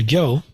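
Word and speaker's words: Gyō: In the Korean pronunciation, this is Guan or Guan And then Gyo is just the Japanese pronunciation of this character, which in Korean is pronounced Gyung. In Mandarin, it's more like Jing.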